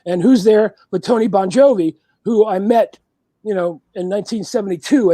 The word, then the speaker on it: Bon Jovi: Tony Bon Jovi. How do you pronounce it properly? Bon Jovi. Bon right? Jovi.